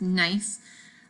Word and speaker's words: gneiss: And some examples are gneiss. Isn't that funny? That's how you pronounce that word. It's gneiss.